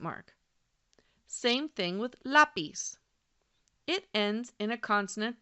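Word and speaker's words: lápiz: on the last syllable but listen closely lapiz know that stress is on the second to last syllable that is why the accent mark is over that vowel by the way the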